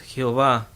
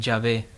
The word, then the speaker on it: Jehová: llave en el hebreo no es señor es jehová algunos los pronuncian ya ve el gran yo soy